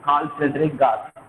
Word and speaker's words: Carl Friedrich Gauss: The pronunciation is Carl Friedrich Gauss.